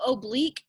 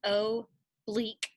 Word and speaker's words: oblique: my teacher about that so oblique is how you say it so you say o bleak kind of like it has an e e c k at the end but it's a q-u-e the oblique lines are